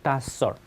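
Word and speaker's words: docile: 당연히 우리 교정 있잖아요 다썰 사 이렇게 발음할 수도 있습니다 다썰 온화한 온순한 말 잘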